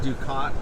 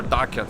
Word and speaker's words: ducat: were you saying that ducat is the standard of trade Duke is the denomination right or daca there are multiple ways to pronounce this because it's not an English word yeah and its first